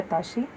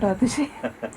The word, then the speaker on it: Atashi: mispronounces your name completely which is why I always go by atashi and not aashi you have to put